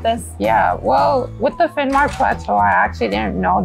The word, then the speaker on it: Finnmark: Well, how do you feel when I say the phrase, The Finmaker Plateau. Oh, the Finnmark Plateau. Oh, I didn't say it right. Excuse me, it's the Finnmark?